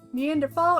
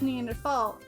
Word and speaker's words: Neanderthal: A preference, and there's no H sound when it's pronounced in French and German.